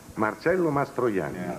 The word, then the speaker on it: Marcello Mastroianni: a commercial how do you say your name marcelo mastroyan uh this is uh i guess uh sunday's